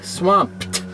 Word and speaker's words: Swampt: this guy swamped now why did i say it silly like that well because if you spell it like the word swamped with uh as in swamped with work or swamped with offers or swamped with letters or whatever uh that would be swamp with ed on the end well